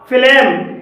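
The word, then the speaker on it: phlegm: भी जी साइलेंट है फिलेम फिलेम में जी के बाद एम आया है और यहां पर जी साइलेंट है पैराडाइम पैराडाइम में जी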